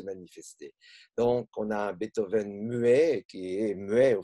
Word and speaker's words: Beethoven: Et enfin, pour être plus précis sur le cas de Beethoven, que je prononcerai donc à la française, même si cette espèce de délision sur la dernière n'est pas brillante, dans son cas, c'est